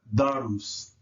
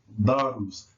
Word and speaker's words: darus: Notice that the D in this letter, excuse me, the D in this three-part verb is hard, but notice the influence of the R pronounced with the syllable on the left and the right, darus.